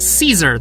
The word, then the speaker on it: Caesar: We started pronouncing it Caesar, though, because French.